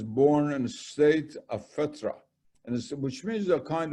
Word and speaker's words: Fitra: I don't know if I pronounced it correctly, but No, Fitra. What? Fitra. Yes. Fitra.